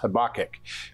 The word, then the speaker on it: Habakkuk: name means embracer and it's actually pronounced habic very very interesting name